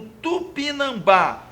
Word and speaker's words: tupinambá: No item B, o acento do termo no tupinambá se justifica porque a sílaba tônica recai na penúltima? Não, gente, ela cai na última. É uma palavra oxítona.